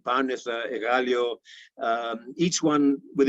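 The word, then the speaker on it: Πάρνηθα: Using modern Greek pronunciation, Mount Imitos, Pendeli, Parnitha, Egalio, each one with its own particular gift.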